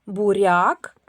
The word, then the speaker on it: буряк: Це два слова: буряк, цибуля. Як вимовляємо приголосні перед буквою я? Буряк. Р м'який приголосний. Цибуля ль м'який приголосний.